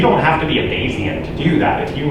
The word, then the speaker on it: Bayesian: You might be asking, how do you even pronounce the word Bayesian? There's 3 typical pronunciations. I say Bayesian. So there's also Bayesian. You'll hear people say that. You'll hear people say the hybrid, Bayesian.